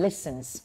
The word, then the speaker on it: listen: เหตุ ผล นะ ฮะ ส่วน ตัว นี้ ออก เสียง ว่า ว่า Listen Listen ออก เสียง ด้วย Listen นะ ฮะ อ่า ไม่ มี เสียง ตัว T นะ คะ ไม่ ใช่ Listen อย่าง